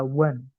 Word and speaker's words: one: tulisan itu kadang beda on dibaca one enggak ada huruf a ggak ada huruf b tiba-tiba bacanya one gitu kan Nah jadi